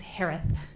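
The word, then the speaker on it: Herath: Last name is pronounced like Harris with a lisp. It's Harith. H-E-R-A-T-H.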